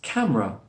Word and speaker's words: camera: The in the middle, the schwa sound is dropped, and in the last syllable, ra, leaves us camera.